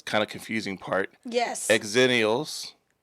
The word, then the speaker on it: Xennials: Exennials. Zennials.